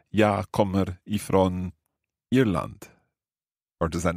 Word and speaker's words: Irland: Jag kommer ifrån Irland. Jag kommer ifrån Irland. Bra, Irland. Irland. Do you roll your R's quite a lot in Swedish? Unfortunately, yes.